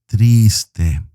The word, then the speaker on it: triste: waving at you siente now this word is a two-syllable word and it is triste make sure you pronounce the t very softly the t